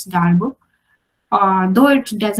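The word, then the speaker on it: Darboux: some people call it darvox but the real pronunciation because it was a French mathematician the pronunciation looks like this star book uh though it does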